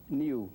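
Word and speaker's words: niw: How's that pronounced? Niu, Uh-huh.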